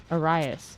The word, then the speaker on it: Arias: Luis Iris? Yeah. Arias.